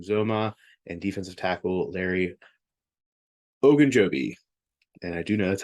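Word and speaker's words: Ogunjobi: tight end CJ Zuma and defensive tackle Larry ogan Joby and I do know that's how you say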